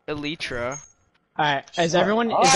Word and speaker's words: elytra: It's elytra, not elytra.